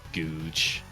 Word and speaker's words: Googe: Belinda Butcher, Debbie Googe. That's just Google without the L. Can't just call Debbie a Googe, Sean.